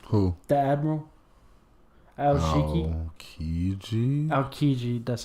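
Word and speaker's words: Aokiji: isn't that his name who the Admiral alii aliji that's how you say it the ice [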